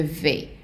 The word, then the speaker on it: vais: going, we have je vais. The S is not pronounced, so we take in the je vais, meaning I am going, and we are going to put it right here.